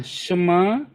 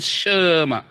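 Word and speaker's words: שמע: Maka bacanya bukan sa, tapi jadi sh, ya. Terus ini di bawahnya mimnya ada patahnya, maka bacanya Shema.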